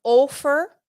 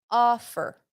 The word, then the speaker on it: offer: Okay, not offer, offer. La O se pronuncia así, A, en esta palabra, offer, offer, to offer something.